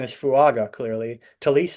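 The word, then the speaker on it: Taliese: Talise Fuaga? Is that right? Police, yep. Talise Fuaga from Oregon State.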